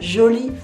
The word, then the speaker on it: jolie: But we also say une jolie femme, a beautiful woman, and that's feminine, une jolie femme. So don't forget the E at the end of jolie, even though we don't pronounce it.